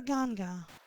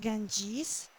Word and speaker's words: Ganga: and then kills you the river ganga yeah it's not Ganges which is uh um Greek name and Greeks really loved adding yes to everything and briish kind of mispronounce S as is so G get how people in South Asia the locals call it uh and this game